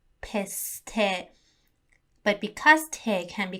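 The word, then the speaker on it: پسته: It's one of the most prominent export products of Iran, and it is called piste.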